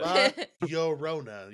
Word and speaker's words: La Llorona: So this wasn't the two this, L's is a Y sound. Like tortilla. and you think I knew that I'd know that. But La Llorona.